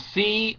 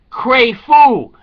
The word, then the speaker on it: Crapo: Now, the spelling, his name is spelled C-R-A-P-O. Now, to me, when I went to college, that's Crapo. But they're saying it's Cray-Foo.